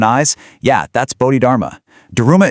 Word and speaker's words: Daruma: Daruma is actually just the Japanese pronunciation of Dharma.